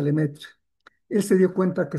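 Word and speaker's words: Lemaître: Eso lo descubrió un sacerdote que vivía en Bélgica que se llama Lemaitre, se escribe, pero se pronuncia Lemetre.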